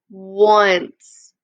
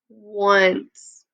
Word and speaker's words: once: talked about this one how the o at the beginning has the w sound once once good job remember these